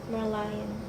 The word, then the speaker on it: Merlion: Marylion. Marlion. Sih, Marl. Mary Lion. I don't know how to say it. Tapi kayak Marlion. Merlion.